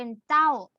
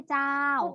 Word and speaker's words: เจ้า: คำ มะ เจ้า เจ้า แต่ ว่า จะ ออก เสียง แบบ เร็ว ๆ เสียง สั้น ๆ เป็น เจ้า เจ้า ไม่ ใช่ เจ้า เป็น ไง บ้าง เสียง